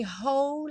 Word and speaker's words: whole: Take my hand, take my whole life too. Essa palavra whole, embora tenha um W aí no começo, você só escuta o som do H, que em inglês é esse som h.